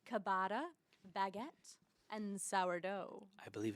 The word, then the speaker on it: ciabatta: It doesn't really matter, but it's Italian, so the CI is cha. So is that really how you pronounce it? Yeah, ciabatta.